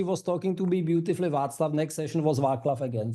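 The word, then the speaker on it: Václav: We had we had really funny encounters because I tried to uh to train the AI that she pronounced my name correctly and it was all very well Vaklav and then again I like no it's Vatlav it's Vaklav and once time I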